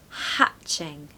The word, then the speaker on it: hatching: because it's New Life pronunciation tip it's a short a so hatching hatching okay you really want that back of the throat sound the short a hatching stress the first syllable number ten we've actually